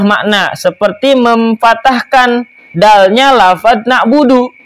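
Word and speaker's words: نعبد: Demikian pula orang yang salah membaca Fatihah tadi yang tidak mengubah makna, seperti memfatahkan dalnya lafaz na'budu. Harusnya iyyaka na'budu, dia bacanya iyyaka na'buda. Salah dari harokatnya.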